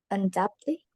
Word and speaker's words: undoubtedly: you say this word undoubtedly this is the thing about this word we don't read the B so the B is actually silent and this is how